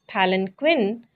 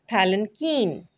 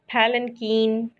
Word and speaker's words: palanquin: day is palinkin the word palanquin is mostly mispronounced as palin quinn but the correct pronunciation is palinkin repeat after me palanquin palinkin palinkin palinkin is a structure formerly used in